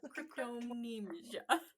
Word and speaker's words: cryptomnesia: It's cryptomnesia. Looks like crypto, like a crypto bro, and then amnesia. Cryptomnesia.